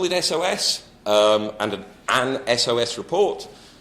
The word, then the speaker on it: SOS: SOS I'll call in SOS and an SOS report other people say sauce that's fine if you do that I gave up on